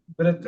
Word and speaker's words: breadth: breadth and the t is silent.